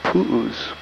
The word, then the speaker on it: pu'u: In Hawaii we call them pu'us. And you spell that P-U, and then the Hawaiian apostrophe, which is called an okina, and then another U.